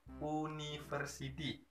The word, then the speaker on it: university: di sini ada tulisan University bacanya kan ini Uh terlihat jelas ini adalah huruf a focal kalau bisa Indonesia tapi bahasa Inggris ini bacanya you universal jadi ini bukan apa huruf vokal konsonan jadi pakainya bukan and